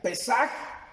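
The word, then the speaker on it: פסח: largo de hecho hermanos la palabra pascua en hebreo se pronuncia pesaje y significa cliente vasco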